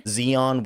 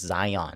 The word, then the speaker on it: Zion: Zeon Williamson. I'm kidding. I know it's Zion.